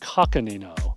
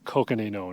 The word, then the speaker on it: Coconino: National Forest in northern Arizona I've heard it pronounced coino welcome to the thank you sir Sean connory but I'm pretty sure it's Coconino National Forest this is the largest contiguous Ponderosa